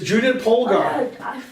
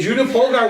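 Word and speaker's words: Judit Polgár: cuz she didn't eat yeah thank you for mispronouncing it okay the correct answer is Judah pogar okay Judah pogar was top 10 in the world and she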